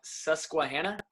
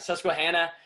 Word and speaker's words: Susquehanna: say it because i might say it wrong susquehanna yes sir that's he hit it right on the nose let's go all right susquehanna and just recently his first year as a